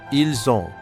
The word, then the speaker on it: ils ont: Ils ont. Ils ont. We pronounce the S.